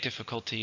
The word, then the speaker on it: difficulty: But difficult is an ADJ, difficulty is a noun. How many syllables in difficulty? 4.